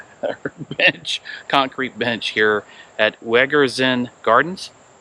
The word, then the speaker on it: Wegerzyn: concrete bench here at wegerzin gardens good job i pronounced it right wedgers and gardens and we're going to